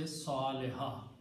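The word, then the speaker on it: صالحة: And when you stop, you say Saliha. You do not pronounce tun.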